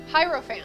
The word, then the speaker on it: hierophant: then the feature is the harefant the elephant yep hierophant hierophant thank you do not know how